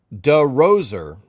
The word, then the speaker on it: DeRoser: People mispronounce my last name all the time. DeRoser. That's how you want it to be pronounced, Amanda, right?